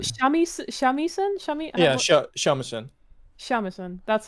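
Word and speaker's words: shamisen: Shamisan. That's how you pronounce it.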